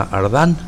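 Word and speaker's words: Desjardins: momento de explicarles que cuando en francés termina en jardín algo o sea algún nombre también jardín se produce se pronuncia ardan no se produce a jardín ya ardan entonces este es el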